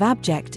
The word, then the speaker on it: abject: The pronunciation of abject is up for debate. You can decide whether to stress the first or the second syllable.